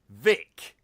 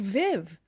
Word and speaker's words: Vic: Vic. Yeah. Someone out there in the world... Do they think you're called like or something? No, they think I'm called Viv.